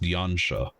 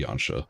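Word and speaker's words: Yanxia: it uh that's pronounced yancha it's a soft x i like in the Asian pronunciation it's closer to China in terms of pronunciation for how you would pronounce the XI than it would be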